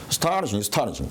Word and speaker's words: astonishing: astonishing. 자, 그러면 S도 무성음이고 T도 무성음인데 무성음과 무성음을 발음하려면 astonishing 이렇게 발음을 해야 되니까 뒤에 있는 놈이 부축으로 해준다고.